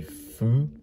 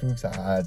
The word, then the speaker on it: Foux: prodigies um we've got lancy fu lancy foo or lancy fuksa i don't think you pronounce the x i'm gonna say nancy